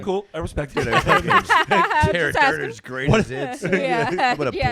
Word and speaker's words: Daragh: Because it's just like, it's pronounced Daragh.